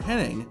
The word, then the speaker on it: Hennig: Perfect's real name is Kurt Hennig, except it's actually spelled like this with no N.